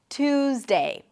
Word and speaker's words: Tuesday: When you pronounce a T sound and then a Y sound, what happens to the T is that it changes a little bit and becomes a ch sound, like a T and a sh sound.